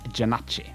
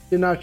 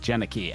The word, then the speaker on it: Janachi: Okay, so my name is pronounced Janachi. Janachi. And don't worry, you are not the first person to mispronounce it or just not know how to pronounce it. There are so many people who assume it's Janaki, and I don't blame them. But yes, if you want to use the full name, it is Janachi, but it is perfectly